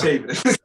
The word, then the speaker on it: Chavis: It's Chavis. It's all good. Everybody mispronounces it.